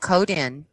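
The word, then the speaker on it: Coden: town in it's called codon in and and you know these people have to teach me southern so it's it's pronounced code in and another town called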